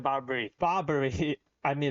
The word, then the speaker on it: Barbara: Barbara Barbrey. I mean, it's a lot of suits. Of course, that she's going to be sand. Okay. So, okay. So, her name is not Barbrey. Her name is Barbara.